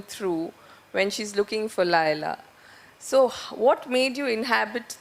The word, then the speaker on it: Leila: How do you want me to pronounce it? You can pronounce it any way you like, but I say Laila.